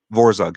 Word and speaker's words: Vorzug: promote send me let me see if i pronounce it right vorzog vorzog yeah send me a warzog sticker i'll talk